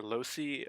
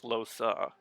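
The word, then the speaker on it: Lohse: I get the feeling because I could never figure out how to pronounce her name, and I'm fairly certain there are some characters who call her Losi, there are other characters who call her Losa, and I don't know which is supposed to be correct, but she just said her name was Losa, so I guess that's how I'm supposed to pronounce it, if she knows how to pronounce her own name.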